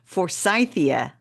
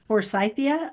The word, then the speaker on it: Forsythia: Which I had a professor in college who said the shrub was named after Dr. Forsythe or Mr. Forsythe. And so we should be properly pronouncing it Forsytheia. Forsytheia.